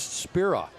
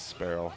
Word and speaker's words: Sparrow: Now I'm being told, I was told it was Sparrow was the way to answer, pronounce his last name, but somebody now has told me it's Spira. No, it's not. It's Sparrow.